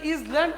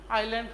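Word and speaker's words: island: আইল্যান্ড, এখানে যদি ইসল্যান্ড আছে শিক্ষার্থীরা, এস এর উচ্চারণ উজ্জ থাকবে বা সাইলেন্ট থাকবে। এস এর উচ্চারণ কি থাকবে, সাইলেন্ট থাকবে, তাহলে কি হবে আইল্যান্ড হবে।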